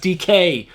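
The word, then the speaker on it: Dike: I used to call his name as Dyke, but then I went to New York Comic Con. I found that his name was actually pronounced DK.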